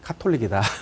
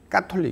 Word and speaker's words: 가톨릭: 그래서 이제 표준어가 가톨릭처럼 말하지만 진짜 표준어는 카톨릭이 기본 발음입니다. 그래서 옛날에는 까로 했죠. 까톨릭 이렇게. 까리타스 이렇게 다 까로 가지 않습니까? 근데 가리타스 이렇게 하지 않지 않습니까? 카리타스 하고 있죠. 그래서 그 카 발음인데, 그래서 우리는 카톨릭이라고 하는